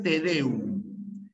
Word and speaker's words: tedeum: Y esto es tedeum. ¿Qué cosa es tedeum? Tedeum es una palabra aguda primero, es una palabra aguda.